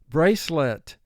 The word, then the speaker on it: bracelet: at the park bracelet brace has four sounds let three sounds mark the word brace let in this word e has two jobs the silent e it's causing the c to represent its second sound it's also causing the a to represent its long sound tragic tragic the tragic